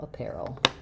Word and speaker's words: apparel: Um, the IPA is going to be again awah stress on the pear syllable. The air dip thong is spelled this way in the IPA. And then another schwah before our dark L, apparel.